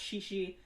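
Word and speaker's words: chichi: yeah um shishi that's spelled c-h-i-c-h-i but it's pronounced shishi usually a rumor apartment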